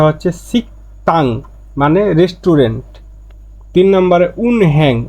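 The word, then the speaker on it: 식당: এযে গিয়কের পরে দ্বিগুত আসলে দিগুটা ত উচ্চারণ হবে সাংদিগুতের মতন হবে ত হবে এজন্য উচ্চারণটা হচ্ছে সিকতাং মানে রেস্টুরেন্ট তিন নাম্বারে উনহ্যাং মানে ব্যাং উনহ্যাং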